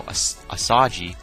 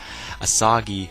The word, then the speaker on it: Asagi: enter a flashback about how asaji sorry I mispronounced his name asagi in this flashback it's